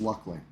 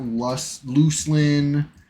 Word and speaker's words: Luclin: Pronounced Luckling, not Luclin or any of that.